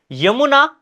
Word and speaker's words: यमुना: भारत में कुछ ऐसे क्षेत्र भी है जहां पर आपके यमुना को भी जमुना कहा जाता है। लेकिन आप याद रखना यहां पर शुद्ध हिंदी उच्चारण की बात चल रही है। वो क्षेत्रीय भाषाओं में कहते हैं यमुना को।